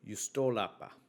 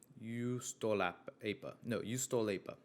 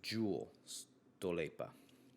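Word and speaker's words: Juustoleipä: Finland, and it is actually called Juustolapa. Juustolapa. I think I'm saying that right. But it's spelled Juustoleipa. So it kind of looks like it's Jewel Stolepa.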